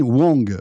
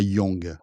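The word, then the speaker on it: Huang: Alors déjà, j'ai appris que c'était Jensen Wong et pas Young. On prononce pas le U, c'est Wong Wang Wang.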